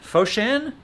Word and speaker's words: Foshan: uh well jeremy's not here because he's in foshan foshan is that how you say it is it